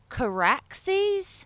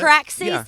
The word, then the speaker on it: Caraxes: All of a sudden, Damon comes out of nowhere on, and I'm sure I'm pronouncing this wrong. Is it Caraxes? Correct. No, I think you got Caraxes, his dragon.